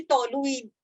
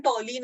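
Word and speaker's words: toluene: ऐसा प्रोनाउंस करने में लगेगा कि टॉलुइन, लेकिन टॉलिन इज द करेक्ट प्रोनाउंसिएशन, तो आप टॉलिन बोलना है इसको, ठीक है, टॉलिन।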